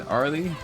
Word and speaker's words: Arle: Yeah, it's Arle, but some reason I got stuck saying Arle after like what I said earlier in stream.